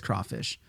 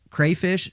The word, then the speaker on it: crawfish: Lesson number 1, it's always crawfish. Crayfish is definitely out. Yeah, that's how it's spelled. Don't say crayfish.